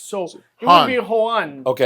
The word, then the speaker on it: Juan: Well, the the J is pronounced like an H. So, it would be Juan. Okay. Juan Juan Praelles.